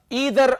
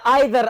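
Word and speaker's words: either: अच्छा जी, दूसरा हमारे पास है ईदर आर या आइदर आर। दोनों प्रोनाउंसिएशंस पॉसिबल है, ईदर आर या आइदर आर, दोनों प्रोनाउंसिएशंस पॉसिबल है, करेक्ट है, ठीक हो गया।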